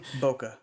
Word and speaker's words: bokeh: Plus is it has this new thing called bokeh. Am I pronouncing it right? Because you're the camera guy. Bokeh. Bokeh, okay, sorry.